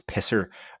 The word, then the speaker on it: PSSR: So out of the box, without even talking about PSSR, or as LL says, we should pronounce pisser, as other people are pronouncing, without even talking about